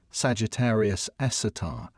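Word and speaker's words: Sagittarius A*: The super massive black hole at the center of our own galaxy known as Sagittarius Asterisk, pronounced Sagittarius Esatar, has a mass roughly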